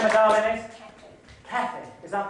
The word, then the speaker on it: Kathy: Kathy. Is that pronounced right? No, it's New Zealand pronunciation. K-A-T-H-Y. K-A-T-H-Y. So it's like Kathy, but Kathy. Yes, in a New Zealand accent.